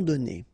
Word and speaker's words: donnés: Okay, so the good news is that you don't pronounce it, so donner, okay? So whether it would be without this final es or with L-E-S, you will pronounce it the same way.